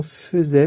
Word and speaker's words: faisait: Qui faisait, alors vous ferez attention, faisait, ça s'écrit AI, mais c'est le AI qui se prononce E.